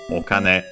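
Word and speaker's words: お金: So okane um unacented either way uh can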